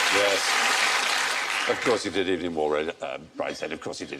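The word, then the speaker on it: Evelyn Waugh: Of course he did, Evening War, Brideshead.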